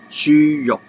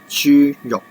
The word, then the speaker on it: 豬肉: It is pronounced as 豬肉, 豬肉.